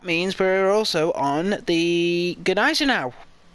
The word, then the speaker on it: Gneisenau: Uh and that means we're also on the Gnaz now. That is how you say it if I'm sure. I've been saying it for the past 5 years now. Ganis now. I used to call it Genesis, but yeah.